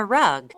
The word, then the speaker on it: rug: 어떻게 시작해요?이 단어는 r로 시작해요. 그러니까 읽으실 때 러그라고 읽으면 안 되죠. 굴려 읽어야 돼요.